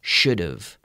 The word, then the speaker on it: should've: a pronunciation issue because he say he should have worked harder but we say should've should've should've right so do you